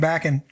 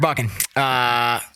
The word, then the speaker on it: Bakken: Well, now I'm going to say it just because it rhymes with fracking, and I think it's hilarious. I'm going to start fracking Bakken. You did it wrong there. Bakken.